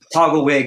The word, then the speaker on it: Togglewhyg: How do you pronounce it? I don't know. Yeah. Togglewig.